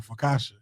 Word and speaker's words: focaccia: pronounce this bread. I assumed it's like Focaccia.